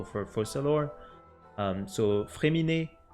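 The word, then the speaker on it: Fréminet: fossil or um so fremini there's an accent on the E and we don't pronounce the T at the end the t is silent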